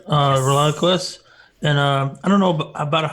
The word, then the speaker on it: ReliaQuest: also the enterprise architect at how do you pronounce that? ReliaQuest? That's correct. ReliaQuest.